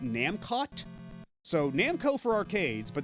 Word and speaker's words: Namcot: And it's not even a soft T. I believe even in a katakana it says Namkoto. So it's not even like they're trying like a fancy silent T thing like it's French or something. Because like that was my